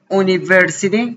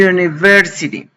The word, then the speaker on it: university: Y lo mismo en el sentido contrario, cuando pronuncio la palabra university, que en inglés la pronunció como si fuera una y university.